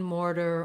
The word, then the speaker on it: mortar: ends of words um often when ar is at the end of word like in mortar or scholar it does have that er sound an unstressed er you can build this